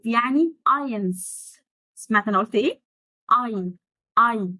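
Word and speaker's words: eins: المهم يبقى 0 يعني نول أو 0 يعني نول، 1 يعني اينز. سمعت أنا قلت إيه؟ اي مش إنز، لا اي ارجع بقى للقواعد النطق اللي فاتت شرحناها.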